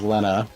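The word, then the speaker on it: Lenna: I mean, currently Lynn is doing pretty okay, so I don't know what you're talking about. Excuse me, sir. I think you meant to I think you mispronounced Lena's Ferris's name is Lena.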